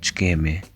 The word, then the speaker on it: Ç'kemi: Ç'kemi, Notice that this letter is pronounced as ch.